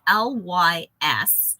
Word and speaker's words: lysyl: I think it's spelled LYSYL. So Lysol, and I just don't want that to sound like Lysol the cleaner, but Lysyl hydroxylase is